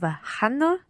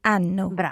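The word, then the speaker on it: hanno: good just one thing in italian we don't pronounce age okay but it's mute so instead of hano it would be anno so they have ano and you're right enough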